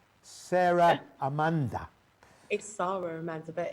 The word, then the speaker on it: Amanda: got my name wrong do i say ahmed it's amanda that's a and i'm always calling